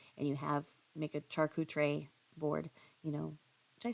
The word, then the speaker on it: charcuterie: you have make a charcootray board you know did I say it right did I say charcuterie that's how you say it with the salami and